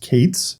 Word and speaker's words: K8s: And just as an aside, you may hear Kubernetes also written as K8S or pronounced Kates.